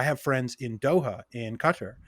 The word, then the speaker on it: Qatar: friends in doha in qatar qatar some people pronounce a guitar i have friends in